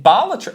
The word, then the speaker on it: Balatro: Nominees are Stratagems in Helldivers 2, Astrobot Transformations, Creating Echoes and Echoes of Wisdom, Jokers in Balatro.